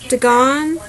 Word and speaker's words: Dagon: Dagon, I think that's how it's pronounced, it's spelled D-A-G-O-N.